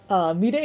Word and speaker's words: Midday: Midday is pronounced mighty except with a D instead of T.